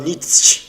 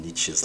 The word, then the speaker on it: Nietzsche: which is most people talk about niche a bit the spirit of pronouncing it wrong which is really the way his name is spelled although nietzsche is one of the